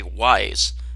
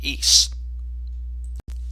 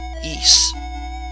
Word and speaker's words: Ys: one ancient east vanished it looks like it should say wise but i guess it's pronounced ease this was created by